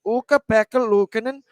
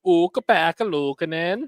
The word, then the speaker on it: Ukko-Pekka Luukkonen: And then Matthias Janmark is Ukko-Pekka Luukkonen playing tonight. Zachary, you want to say his name one time? Ukko-Pekka Luukkonen.